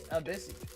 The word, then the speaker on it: ABC: Craziest name I've seen on the internet was ABC, pronounced Abyssy. Abyssy.